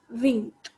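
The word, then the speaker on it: vingt: is 20 which is written as v i n gt which is wink wink i hope these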